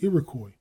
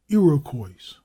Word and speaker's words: Iroquois: Footnote: the same compromise is apparent in the pronunciation of Iroquois, which is Iroquois, quite as often as it is Iroquois, with an S.